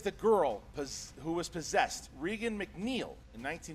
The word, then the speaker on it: Regan: Regan McNeil in 1970. It's pronounced Reagan and Linda Blair.